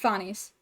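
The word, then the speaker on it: Phanes: Fones sorry I looked it up and it's pronounced Fones I did look that up um the important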